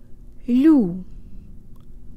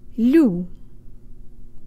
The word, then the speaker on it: лю: of it is that it's an L with a slight Y sound built in yee-hee-hee if you combine